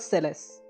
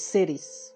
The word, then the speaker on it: Celes: the name series and in japanese it's series series series cities it's not celeste but it's cities interesting so yeah maybe